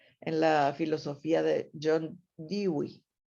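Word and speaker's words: Dewey: la filosofía de john digweed que se escribe the way pero se lee y wii solo avanzando un poco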